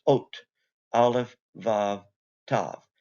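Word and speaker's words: אות: I've included here, this is the Hebrew word for sign, and it's pronounced ot, aleph, vav, tav. This is how it looks in modern Hebrew, and it's just pronounced ot.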